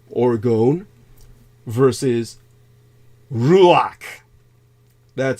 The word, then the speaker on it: ruach: TW most important differences are o oron versus ruach that spelled r u a you'd think it'd be pronounced something like ruou or roach but it's ruak it's orgon versus ruach or magic as in stage magic leery man